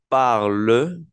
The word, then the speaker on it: parle: n y una t Pero eso no se va a pronunciar bien entonces el verbo va a sonar je parle je parle je parle